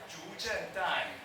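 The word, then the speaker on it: 竺震旦: Zhu Zhendan.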